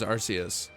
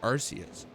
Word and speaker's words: Arceus: And it was just Small Ant talking about Legends Arceus and being like, I've seen people playing Legends Arceus recently, and it's like, yeah, because he pronounces it Arceus because he's Canadian.